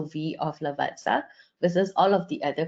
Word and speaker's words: Lavazza: right way to pronounce apparently it's pronounced Lavazza like you pronounce pizza so very very useful